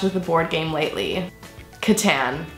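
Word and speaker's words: Catan: the board game lately Katan it might actually be pronounced Katan but we like to say Katan I don't really care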